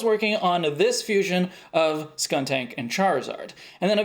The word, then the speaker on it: Skuntank: And that's because Skuntank does not have that middle K. It really bothers me when people pronounce it Skunk Tank.